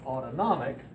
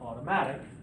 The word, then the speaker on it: autonomic: it as the ANS but it's autonomic not automatic but it functions on